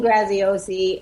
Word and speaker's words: Graziosi: you say his last name dean graziosi dean graziosi and yes so i know if you're following